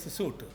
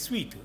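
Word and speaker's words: suite: the front room back everybody says suit it is sweet it's a French word okay s-u-i-t it is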